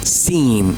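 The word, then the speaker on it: سين: The next letter is seen. Learn its shape. It has two curves like this, and then there is a bigger one. It is seen, like s s sound, like the snake.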